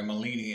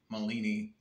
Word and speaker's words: Malini: quick review here on the Milani egg bag you get the instructions I'm sorry molini egg bag Malini egg bag to be proper pronounce it properly and stuff okay so